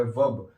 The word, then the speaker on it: verb: Guys देखिएगा कि यह काफी लोग इसको वर्ब बोलते हैं, लेकिन ये गलत है। इसको बोला जाता है वर्ब। ये आर होता है ना, ये साइलेंट होता है।